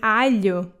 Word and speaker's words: alho: If you put it together with an L, you'll have the sound L, like in alho.